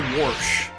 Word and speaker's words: wash: Also, Warsh. Like, instead of wash, Is it there's over already? Warsh, like W-A-R-S-H. So, like, George Washington. I personally don't say it like that, but I know a lot of people around my area who do.